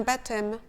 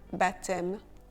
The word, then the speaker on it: baptême: Un baptême, un baptême. Le P de baptême est silencieux.